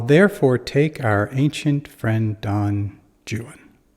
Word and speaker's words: Don Juan: ancient friend Don Jan it rhymes with new one true one and jwan and of course that's not the only time through the poem that he Rhymes Jan so we know it's Jan and although he's talking